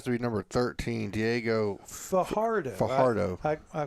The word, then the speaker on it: Fajardo: be number 13, Diego Fajardo. I called Kathy. How do you pronounce that? Is that a ya or a huh? It's a huh. Fajardo.